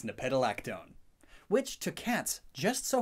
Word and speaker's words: nepetalactone: happens to create a chemical called how to pronounce nepetalactone it's nepetalactone which two cats just so happens to be